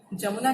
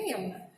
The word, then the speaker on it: यमुना: और य का उच्चारण हिंदी में हम जैसे यमुना कहते हैं, आप उड़िया में उसको जमुना कहते हो।